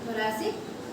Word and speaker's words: thoracic: थोरैसिक का spelling दिख रहा है THORACIC, थोरैसिक, थोरैसिक बोलते हैं, हाँ, या डोर्सल, ठीक है।